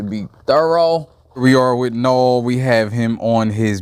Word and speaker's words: Gnaw: yeah so we're here now um i got no of course you know the shark decon no um good no no don't pronounce the g please but yeah we got